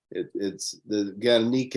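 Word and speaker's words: Gernika: Guernica is the Basque pronunciation and spelling. Otherwise, in Spanish, it's called Guernica, and that's what the rest of the world knows it as Guernica.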